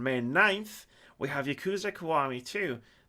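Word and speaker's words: Kiwami: and switch on May 9th we have yakuza kawari - that's how you pronounce that Keith on PC and also on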